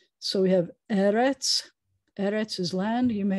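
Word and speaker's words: אֶרֶץ: other words you know anytime you have a word that has two es together the accent's always going to be on the first syllable so eretz almost everything else you do is going to have the accent on the last syllable and this is the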